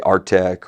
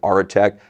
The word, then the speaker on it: Aretec: They'll say Artec or Aretec or Airtec. It doesn't really matter, right? We pronounce it Aretec, which is, I think, the correct pronunciation. But some of the people say Arctic, right?